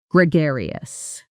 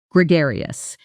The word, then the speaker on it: gregarious: The stress is on the second syllable and that gar sounds like the word car with a g. Practice slowly with me. Gregarious. Now, a bit faster. Gregarious.